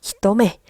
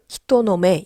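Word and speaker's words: 人目: " 히토메 노 " 는 필요 없어 요 . " 히토노메 " 가 아닙니다 . " 히토메 " 는 한 단어 입니다 .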